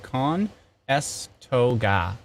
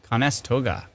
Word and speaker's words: Conestoga: topic a lot oh somebody's pronouncing for me Khan s toga Conestoga oh tactical Captain thank